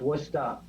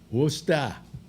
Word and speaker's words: Worcester: It's actually pronounced Worcester. Worcester.